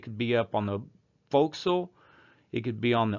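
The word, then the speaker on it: forecastle: on this destroyer is referred to as the foxel if you spell it out properly notice it's spelled for castle but it's pronounced the foxil moving around the ship those other different places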